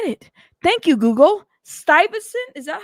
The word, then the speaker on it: Stuyvesant: See, that's one thing I do like about Google is their pronunciation. Stuyvesant.